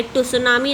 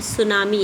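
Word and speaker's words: tsunami: ये टू सुनामी नहीं है, सुनामी है. सुनामी की जो स्पेलिंग होती है टी से स्टार्ट होती है.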